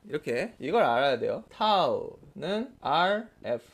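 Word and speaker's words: τ: 타우는 RF 이걸 타우라고 읽어요. 타우.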